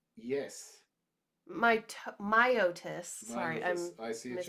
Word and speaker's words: Myotis: it is the largest species of the genus mitosis yes my myotis sorry i see this pronunciation it has exceptionally large feet which it